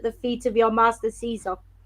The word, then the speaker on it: Caesar: feet of your master Caesar. Or Kaiser, yeah, it would have been pronounced.